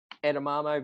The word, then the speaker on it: edamame: Every Friday night before cricket, it was a wrap with string cheese, edamame beans.